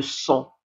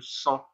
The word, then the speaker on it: sang: Le sang, الدم. Le G ne se prononce pas. G لا ينطق. On dit le sang, الدم.